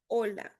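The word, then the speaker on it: hola: Porém, em espanhol é o vocês vão colocar e intensidade na penúltima sílaba. Ola.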